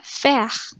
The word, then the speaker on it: faire: AI itu di tengah, itu dibaca E. E yang di belakang, kalau di bahasa Prancis yang paling di belakang itu nggak dibaca. Jadi ini langsung dibacanya faire. Faire.